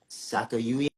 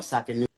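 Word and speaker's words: Sakanoue: Sakayuye? Oh, Sakanuye, Sakanuye.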